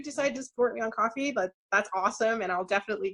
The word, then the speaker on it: Ko-fi: say I'm in the process of setting up a coffee, if that's how you pronounce it. I keep wanting to call it Ko-Fi, but I've been told it's coffee, so.